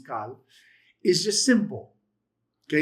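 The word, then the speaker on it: Qal: The cal, which can either be a K or a Q, either one, pronunciation's the same, is cal, is just simple.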